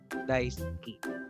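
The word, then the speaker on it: だいすき: So yung pronunciation dito pwede pong gamitin as daisuki. Daisuki. No? Ski, daisuki. Ski, daisuki.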